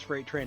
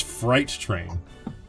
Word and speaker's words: Fright Train: In his defense, I thought it was Freight Train as well. Nope, it is Fright Train. As in spooky!